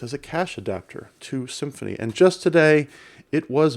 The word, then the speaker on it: Symfony: is a web framework called symphony and it's spelled like this sym Fon Y and I have not